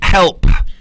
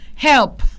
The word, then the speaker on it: help: ให้ ชัด นะ Yes help help One More Time help help มัน ต้อง มี P ตอน ท้าย ไม่ งั้น มัน จะ เป็น help ที่ แปล ว่า นรก นะ ครับ ถ้า คุณ ยืน